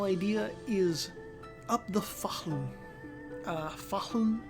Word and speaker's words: Fahln: Fahlun is spelled Fahln. The Fahlun, or Valn, as the hillbillies on its western bank call it, is the third